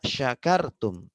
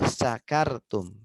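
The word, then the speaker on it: شكرتم: Nah, coba bayangkan kalau orang membacanya bukan syakartum tapi sakartum, pakai sin kecil, ya. Yang artinya jauh berbeda dengan syakartum. Syakartum artinya kalian bersyukur. Kalau sakartum pakai sin kecil artinya kalian mabok.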